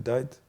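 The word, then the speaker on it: Dyer: Il y avait Chanel Dight, la fille Chanel Dight. Je sais pas si vous. Ah je oui, vois c'est Chanel, qui. tu dis comme ça Chanel Dight, ouais. D'accord, Diet on dit, ouais. Ça Mm.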